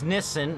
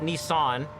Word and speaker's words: Nissan: Like it's Nissen, not Nissan.